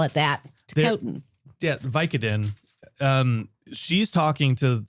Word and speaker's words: Ticotin: Ticketin. Let's call it that. Ticotin.